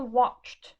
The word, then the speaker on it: watched: On prend watched, d'accord? Les 2 dernières lettres, CH, est-ce qu'elles sont dans le tableau? Oui. Et on voit qu'en face de CH, ça donne le son T, watched.